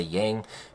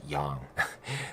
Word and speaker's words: yang: You might say yang, but it's pronounced yang.